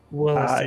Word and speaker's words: Willesden: Wait, how do you pronounce it again? Williston. Willesden. Yes, familiar old Williston.